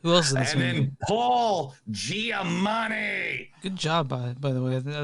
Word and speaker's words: Giamatti: then Paul Giamatti. Good job, by the way. I was sure you didn't get the name wrong, but you did not.